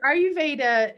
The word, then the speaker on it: Ayurveda: go into that again one last time so ayurveda it literally means the science of life that's